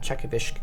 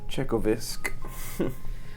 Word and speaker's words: Chekovysk: The uh as you guys drive, um you begin to see the the town of Czechovish kind of down this hill.